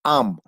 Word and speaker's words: Ham: Bueno, H en inglés es J, Ham, pero si la H en español es muda, sería Am.